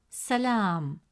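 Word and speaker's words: سلام: Since the long vowel al if comes immediately after la, it stretches the short a sound into a long a sound. Instead of pronouncing it as la, the presence of al if makes it la. As a result, the correct pronunciation of the word is salam.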